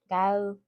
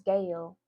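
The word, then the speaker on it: Gaeul: When I first heard of Ive, I thought it was Gale. Gale, like Gale. That does look like Gale. Like, but I was calling her Gale for the longest until I watched Wanhade Carolyn's videos on Ive, and I realized that was not the right way to say her name.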